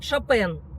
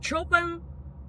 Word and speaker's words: Chopin: Франции, из Германии, поэто Мы произносим фамилию именно таким образом шапен, поскольку во всех языках эта фамилия звучит именно Фридерик Шапен. Если мы будем говорить Чопен, то нас, к сожалению, не поймут французы и англичане.